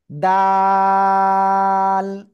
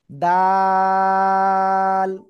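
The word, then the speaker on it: د: এই যে জিব্বার আগা, এই দুই দাঁতের গোড়ায় লাগাবো। ঠিক আছে? আগায় না, আগায় হলে এরকম, আর গোড়ায় কি? ঠিক আছে, গোড়ায় লাগিয়ে 1 2 3 আলিফ টেনে উচ্চারণ করব।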